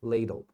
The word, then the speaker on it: ladle: o sobrou o la então terminou na vogal é o som longo lei l l Ok candle ladle Tá vendo Por isso